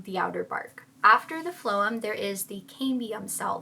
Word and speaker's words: phloem: After the outer bark, we have the inner bark called the phloem. Let me check that. Oh, I said it right. Oh my god. Go me. Then we have the inner bark called the phloem, which transports the nutrients throughout the tree.